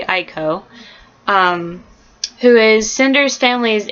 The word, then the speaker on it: Iko: um Dimitri Ireland who is in charge of finding a cure and there is echo which I used to pronounce eco and then I realized it's probably Aiko um who is cinders